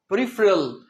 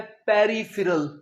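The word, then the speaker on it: peripheral: Next है students प्रीफेरल। पी ई आर आई पी एच ई आर ए एल। प्रीफेरल का मतलब होता है बाहरी। सो कई स्टूडेंट्स इसे बोलते हैं पेरिफेरल नहीं प्रीफेरल।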